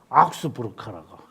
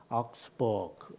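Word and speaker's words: Augsburg: 내가 아우구스부르크 이라니까 우리 변 목사님이 듣기 싫다고 악스부르크라고. 어지간히 독일에 사신 것을 표시하시는 것 같은데 어쨌든 악스부르크 맞습니까? 악스부르크. 악스부르크. 저는 그 미국에 있을 때는 이렇게 안 했죠. 미국에서 이게 발음할 리가 없죠. 근데 이제 버거라고 부르니 하잖아요, 그죠? 악스버그 이렇게 버거 하는데 여기 오니까 그렇게 안 하더라고요.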